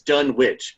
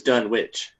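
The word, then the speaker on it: Dunwich: It says like it's done witch because this is how I pronounced it when I first read it when I was 11 years old. I'm not so wrong. It's so much I'm nostalgic. How did they pronounce it movie? Uh in the movie it was done witch.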